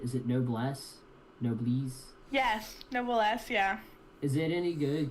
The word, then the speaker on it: Noblesse: I don't know how to pronounce it. Is it Noblesse? Noblesse? Yes, Noblesse, yeah.